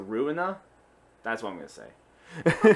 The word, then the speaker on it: Ruina: It's spelled ruin, but with an A, so Ruina.